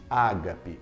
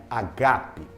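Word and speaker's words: ἀγάπη: só fazer uma observação muita gente disse Ágape mas no grego original a expressão correta seria Ágape porque Ágape trás acentuação nas segunda sílabas e aí você precisa fazer essa internação na segunda sílaba feitas observação sigamos em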